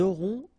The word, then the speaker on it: auront: vous aurez, ils auront, final T not pronounced, elles auront.